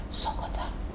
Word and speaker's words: Sokota: You have to whisper it. It's Sokota. How? Sokota. How? It's a noun, it's a word, so you need to pronounce it. No, you don't have to. It's actually supposed to be whispered.